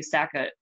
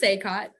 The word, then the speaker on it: SACOT: we talk about the SACA? I'm not even sure what this is. Like, I'm excited to hear what it is. It's pronounced SACOT. SACOT, sorry.